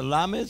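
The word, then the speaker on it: למד: Here's a lamed. Say with me, lamed. A lamed is L, le, an L sound.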